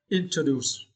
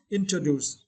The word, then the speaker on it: introduce: The word introduce, yeah, introduce, yeah, introduce. And for this word, you need to stretch the third syllables, do's. Introduce, yeah, introduce.